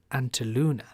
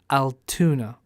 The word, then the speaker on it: Altoona: Antaluna. Altoona. Oh, I said it wrong.